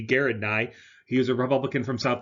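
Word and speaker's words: Gerald Nye: senator garrett nye okay most people say jared nye but it's actually a hard g garrett nye he's a republican from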